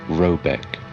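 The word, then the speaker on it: Råbäck: The manor house, or Herrgård, in question, is to be called Rabeck, pronounced something like Robeck, though that is not its name.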